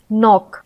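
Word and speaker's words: knock: हैं के साइलेंट है नाइफ यानी एन का उच्चारण इसमें आ रहा है नाइफ नॉक नकल एल जैसे कि आर्म्स बाम पी साइलेंट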